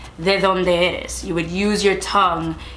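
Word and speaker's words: de dónde eres: You would say de donde eres. So it takes a little bit getting used to using your tongue to pronounce that D, and that's honestly one of the biggest like identifiers for someone.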